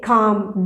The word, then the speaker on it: calm: இந்த வேர்டில் இருக்கக்கூடிய L is a silent letter. So we don't need to pronounce this letter. Okay, just say calm. Don't say calm.